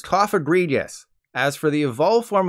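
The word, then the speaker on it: Cofagrigus: this guy cough egregious there's a small pool of people who probably thought it was cough egregious like egregious but it's cough egredious as for the evolved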